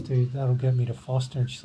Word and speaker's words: Forster: Keep saying Forster, but it's actually pronounced Foster, even though it's spelt Forster.